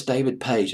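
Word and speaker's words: David Paich: It was written by Boz Scaggs and David, I believe it's David Page is how you pronounce it.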